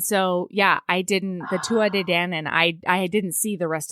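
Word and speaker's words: Tuatha Dé Danann: say that word because there are a lot more consonants in there than they pronounce.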